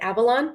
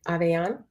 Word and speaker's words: Avellan: y'all i am aveon a lot of people pronounce it avalon but it's actually like you're yawning aveon um and it's just